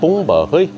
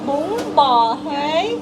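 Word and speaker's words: bún bò Huế: And it's called it's called bông bò hơi. Wait, how, vad heter den här igen? Den där, vad heter den? Du uttalte riktig. Bông bò hơi.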